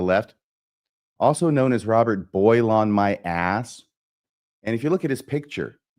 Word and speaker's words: Boylan: It's pronounced Boyle on my ass.